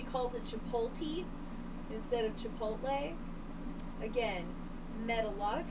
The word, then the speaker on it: chipotle: i'm like i'm like i think that you're just saying it wrong to say it wrong i've like told you a hundred times it's chipotle not to pull tea my favorite thing is